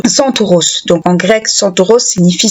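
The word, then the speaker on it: Κένταυρος: En grec, le terme sentor se prononce Santoros.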